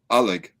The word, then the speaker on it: Oleg: But the way Oleg is pronounced by a lot of Russians is Oleg, like Alec.